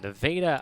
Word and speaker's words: Nevada: a half per game this season junior from nevada iowa i believe that's the correct pronunciation to veda that is correct yes or